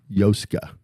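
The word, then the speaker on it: Joska: Yoska. Because the J's like a Y. A Y. Like Yoska. yo-yo, Yoska, yeah.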